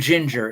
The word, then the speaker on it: Jinjer: some amazing groove metal, the band Ginger, it's spelled Jinjer.